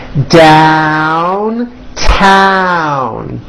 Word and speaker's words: downtown: You just have to remember that even though down and other words like it are spelled with an O, you still attack the vowel with that A sound in hat.